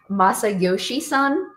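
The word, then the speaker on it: Masayoshi Son: So SoftBank CEO, his name is Masayoshi-san. Did you just say that with perfection? I tried my best. I hope I pronounced it correctly.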